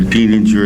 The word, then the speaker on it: Deininger: The presence or absence of Mr. Deininger, or Deininger, as I believe he correctly pronounces it, for the purposes